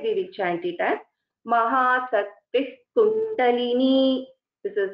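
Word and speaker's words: महाशक्तिः कुण्डलिनी: Instead, we will chant it as Mahasakti Kundalini. This is how we will pronounce this. So whenever there is a Visarga and after that there is a Ka or Kha, we have to keep this point in mind.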